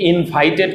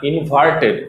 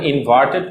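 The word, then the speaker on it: inverted: দেখো, full stop, কমা, semicolon, colon, question mark, exclamation mark, ইনভার্টেড comma, অনেকে এটাকে ইনভাইটেড comma বলে, না, ইনভার্টেড উচ্চারণটা হবে ইনভার্টেড comma, apostrophe, hyphen, dash.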